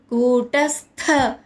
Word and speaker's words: కూటస్థ: నాలుగో చరణం కూటస్థ కూ దీర్ఘాక్షరం ట హ్రస్వంగా పలకాలి. స్థ స్థ స్థ అని పలకాలి. థ థ అనమాట. మహాప్రాణాక్షరం థ ఒత్తుగా స్ట్రెస్ ఇచ్చి పలకాలి.